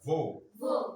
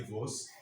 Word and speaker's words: vos: S is never pronounced. So what do you do? Mais, say mais. Tes, c'est, nos, vos, leur. So you can't say leurs. You can't say vos. You can't say nos. It's not allowed.